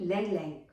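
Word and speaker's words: Ylang Ylang: a few drops of Lang Lang, which starts with Y, but Y is silent, so it's Lang Lang oil, essential oil.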